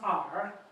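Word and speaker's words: 尔: It's pronounced R, and it's an old way of referring to you, but it's not really used anymore.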